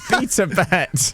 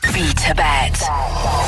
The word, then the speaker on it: BetaBet: BetaBet on Radio X. She does pronounce that like B Tibet, doesn't she?